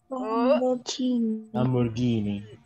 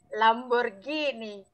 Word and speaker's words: Lamborghini: Terus kalau mobil yang terkenal di Indonesia, mobil dari Itali yang mereknya Lamborghini, bacanya yang benar Lamborghini atau Lamborghini? Lamborghini. Lamborghini, pakai G.